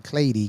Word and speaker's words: Cleiri: I know That's it right. sounds Clady, like clay, but it's not. And I had to learn that name Clady because I was like, that's an interesting spelling.